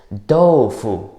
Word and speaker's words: 豆腐: In Chinese, the pronunciation of tofu is doufu.